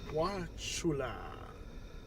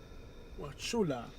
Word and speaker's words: Wauchula: Wula. Wula the U is silent in the pronunciation of this town.